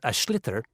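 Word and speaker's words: sliotar: get this ball called ash litter that's SL I OT a or so it's not spelled the way it's pronounced you hideous into the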